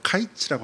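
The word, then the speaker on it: קיץ: 카이츠라고 하는 단어입니다. 이것은요 끝이라고 하는 끝 마지막이라고 하는 단어와이 발음이 비슷해요. 카이츠와 캐츠가 비슷 여러분 광줄이 이것이 뭐냐면요.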